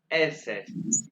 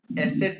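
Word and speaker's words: Eszett: ऊपर दो पॉइंट हुए और ये बीटा इनको प्रोनाउंस कैसे करना है? ऐ ये क्या है? अ ये इ और ये क्या है? एसेट एसेट या शफ भी इसे कहते हैं।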